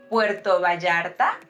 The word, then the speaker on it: Puerto Vallarta: right so we say Puerto Vallarta remember that Double L has that g sound Puerto Vallarta Puerto Escondido